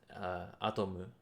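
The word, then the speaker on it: アトム: Oh, Atom? okay. Yeah, and in No Japanese it's idea. Astro Boy. No. In Japanese it's Atomu.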